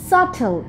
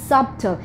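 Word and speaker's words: subtle: plumber then we have সটেল নট সফটল এটা অনেক common একটা মিস্টেক আমরা অনেকে বলে থাকি সফটল বাট দিস ইজ কারণ এখানে যে বিটা আছে বিটা কিন্তু সাইলেন্ট বিটাকে বাদ দিয়ে বলতে হবে সিমিলারলি আছে কিন্তু ভুল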